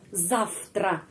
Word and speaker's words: завтра: Itu atau ini это, dan besok завтра. Завтра, kenapa V dibaca F? Karena huruf T huruf voiceless. Karena itu V bacanya F.